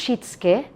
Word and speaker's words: shitsuke: fifth one is shitsuke by the way we pronounce shitsuke with silent you okay this is what